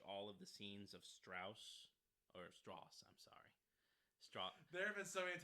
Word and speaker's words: Strauss: meeting with Oppenheimer that it's pronounced Strauss not Strauss uh that goes into